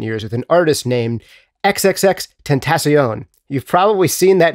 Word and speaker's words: XXXTentacion: He has worked most notably in recent years with an artist named XXXTentacion. You've probably seen that name written down, but have had trouble pronouncing it.